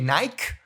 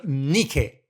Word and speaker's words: Nike: undisputed champion Michael Jordan, Nike. By the way, in Italy we say Nike, and someone told me that in ancient Greek it's pronounced Nike, victory.